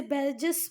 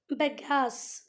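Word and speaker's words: bagasse: इसका एक बार प्रोनाउंसिएशन देखना। बेगास, क्या बोलते हैं इसको बेटा? बेगास, ठीक है। मैंने 2 बार गलत बोला। इसको का सही प्रोनाउंसिएशन है बेगास।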